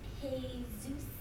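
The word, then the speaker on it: Jesús: it's manolo and jesus manolo and hey zeus you don't pronounce the j where is there a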